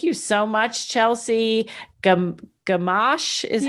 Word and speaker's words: Gamache: yeah so thank you so much chelsea gum gamash is how you pronounce the last name um and chelsea have